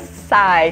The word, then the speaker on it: Psy: Eu sempre acho que tem que falar esse P, mas não tem, é apenas Psy.